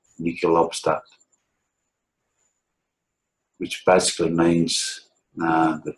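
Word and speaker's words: Nihil: Nicol obstat imprimatur. Some people may pronounce that Neil, but when you get that IHI in Latin, it's pronounced as a K, Nicol obstat, which basically means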